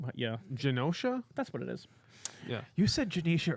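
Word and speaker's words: Genosha: terrible who who ended up in the past uh in Janicia and and Janisha. Yeah, Janosha.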